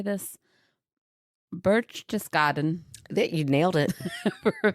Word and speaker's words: Berchtesgaden: Berchtesgaden.